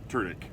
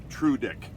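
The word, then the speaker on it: Tudyk: his name and it's it's pronounced true dick which just sounds bad so i try and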